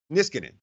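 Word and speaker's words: Niskanen: caps defenseman Matt miss concern how do you pronounce his name is Canaan quote dissidence if just gonna there you go miss cannon thank you offensive teams have certain tendencies certain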